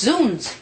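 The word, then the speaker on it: zounds: objection what's that me it's pronounced zoons it means God's wounds a medieval exclamation killing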